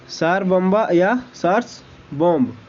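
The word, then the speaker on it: Tsar Bomba: अगला सवाल, सार बॉम्ब को किस देश द्वारा विकसित किया है? टी दोस्तों यहाँ पे साइलेंट होगा।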